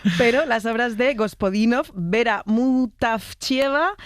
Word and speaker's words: Vera Mutavcheva: Ayúdanos a pronunciar los autores. A ver, Georgi Gospodinov, sí. Zdravka Eftimova y Vera Mutavcheva.